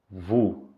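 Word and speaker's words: vous: de u Além disso essa palavra tem a letra s no final Só que essa letra Ela é muda Ok por tanta pronúncia é vou vou Ok em seguida nas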